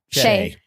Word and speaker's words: Shai: Okay, I don't know how to pronounce his name. Shai Gilgeous-Alexander. Mhm. Yeah. Shay.